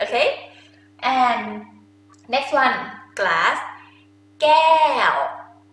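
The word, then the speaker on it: แก้ว: Gael. Gael.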